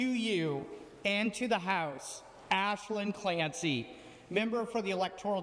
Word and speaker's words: Aislinn: almost everybody does, because it's spelled A-I-S. Yes. L-I-N-N, but you do not pronounce it Aislinn. You pronounce it Aislinn.